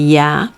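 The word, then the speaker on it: 鸭: see that is only ya y a is ko ya but how do you remember you just remember like yucky okay yaki just dropped the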